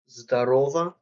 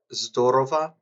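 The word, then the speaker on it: здорово: Uh, you have here is Zdarova or Zdorova, depending on how you pronounce it. When stress is on the second O, it's a greeting.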